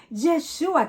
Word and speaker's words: Yeshúa: que el nombre de Jesús en hebreo es yeshua ese sí lo pronunciamos yeshúa Qué significa Ya ves salva no significa llave